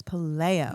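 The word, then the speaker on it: Paléo: It is I think it's Paleo. Paleo? Nope, not Paleo. Not like the diet? Nope. Okay. I think it's Paleo. Paleo. Because there's an accent over the E.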